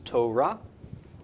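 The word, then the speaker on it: תורה: got a T sound Oh Russ and aa Torah Torah yeah yeah you can hear call the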